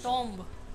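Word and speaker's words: tomb: that right pronunciation RMA CH T MB right pronunciation Tom Tom Right pronunciation Tom let me count how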